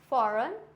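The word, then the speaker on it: foreign: फॉरेन। और ये क्या हो जाएगा? नोम। जी क्या है?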